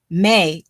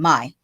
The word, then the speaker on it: Mai: The other girl is looking for the two of them, and then the third girl, May, disappears. So then, or Mai, sorry, I mispronounced her name, Mai.